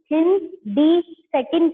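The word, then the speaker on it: HindII: नेमिन का प्रोसेस है जिसके नाम पे हम इसकी प्रोनाउंस हिंद दी सेकंड करते हैं हिंद नहीं बोलेंगे इसको ठीक है तो तो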